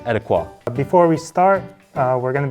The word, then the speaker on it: ETIQA: to talk about one of the best-selling mess pronounced etiquot before we start we're going to be at